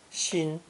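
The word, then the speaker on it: 心: addition of a descending artery this character is pronounced first tone shin shin as in english since ancient times the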